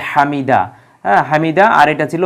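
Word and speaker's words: حمده: বিস্তারিত দেখবেন তাহলে হামিদা হামিদাহ আমরা এই জায়গায় তখন হা এর উচ্চারণটা পূর্ণ উচ্চারণ হয় না যেটা আমরা সংক্ষেপে তখন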